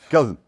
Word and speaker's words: Kellyton: We don't pronounce it or enunciate as well as you did. It's just Kellyton.